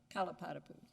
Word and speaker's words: Kalapatapu: is an important one I love to pronounce names properly kalapatapu correct yes your honor uh thank you the